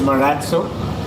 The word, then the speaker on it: Marazzo: Miraj what's correct yeah so the correct pronunciation is Murat so and as you know the origination of it